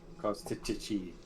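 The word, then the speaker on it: Kostchtchie: so it is spelled KOS And a whole lot of Y's. TCH, then TCH again, then IE. Kostichi.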